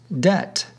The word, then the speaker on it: death: then says no ting death and debt were also homophones death being pronounced debt hints the pun in